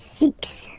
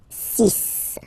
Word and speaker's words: six: sunk sunk sunk and be careful here because even if it's ending with this x well you'll have to pronounce it like s okay so you get the sis pronunciation s sis okay so it's not six it's sis all right then here remember